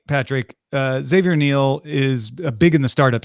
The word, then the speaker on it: Xavier Niel: Xavier Niel, or Xavier Niel, if you want to pronounce it the American way.